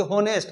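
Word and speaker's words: honest: ऑनेस्ट बोलना है ना कि होनेस्ट। बहुत लोग बोलता है होनेस्ट। है कि नहीं? कुछ-कुछ ऐसे वर्ड है। तो देखो होनेस्ट लिखाता है लेकिन पढ़ाता क्या है? होनेस्ट। इसका मतलब एच साइलेंट हो गया।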